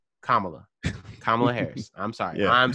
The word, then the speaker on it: Kamala: get a name right yeah say her name kamala kamala harris i'm sorry i'm sorry i apologize